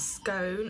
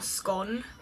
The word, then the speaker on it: scone: First one is scone or scone, depending on how you say it, and tea towel, because like it's a very strange word.